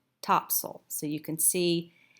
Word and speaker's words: Topsail: Actually, it's Topsail Island. It's spelled Topsail, Topsail, but pronounced Topsail.